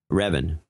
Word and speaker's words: Revan: Rio and Ryan rhymes with Kevin. Revan.